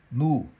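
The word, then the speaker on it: ν: com a letra grega Nu. É assim, os gregos falam Ni. Se você procurar um YouTube pronúncia de grego, a gente fala Ni em português. Os espanhóis falam Nu.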